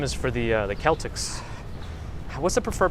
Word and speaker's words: Celtics: three days jv hello so celtics is the preferred pronunciation of the correct one okay got it because i know that word could be sometimes pronounced with a k sound if my shoe gets